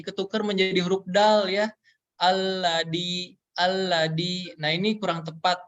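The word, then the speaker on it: الَّذِي: gitu nggak memaksimalkan pengucapannya jadi setiap huruf yang berharakat kasrah rahang bawah kita harus ditarik ke bawah alladzi alladziina huruf dzal berharakat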